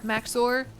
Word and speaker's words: Maxor: think I watched the Maxor video about it. Is that how you say his name? Maxo. It's like Max 0R, Maxor.